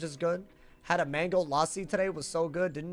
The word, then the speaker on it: lassi: Oh, I guess I should say lassi. Well, because when I speak with an American accent, it's lassi. But when I speak with... It's supposed to be pronounced lassi. It's mango lassi. I know. But, like, almost like a UH sound.